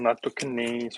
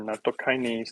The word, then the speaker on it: nattokinase: However, it has extremely good fiber, has a special enzyme called nattokinase or nattokinase, depending on how you want to pronounce it.